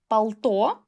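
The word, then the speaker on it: пальто: It's not palto, it's pal-to.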